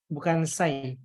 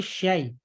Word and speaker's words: syai: Jadi bukan sai, tapi syai.